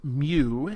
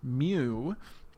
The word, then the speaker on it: mu: from micro is pronounced mu it's a Greek letter it's a lowercase Greek letter mu because if we look